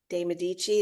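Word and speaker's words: Medici: course there's the stories about C Catherine de deichi is how you say her name and she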